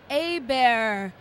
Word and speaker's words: Hebert: much i'm here with kyle a bear a bear okay don't get the pronunciation wrong I know he spells it kind of tricky so can you tell